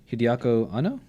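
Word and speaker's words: Hideaki Anno: Actually, Taylor Grant says right here, Mitsuaki Kano, who's actually Hideako Anno. Is that how I pronounce it?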